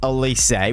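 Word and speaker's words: Eze: take a look at elysee which is how you say his name because you guys let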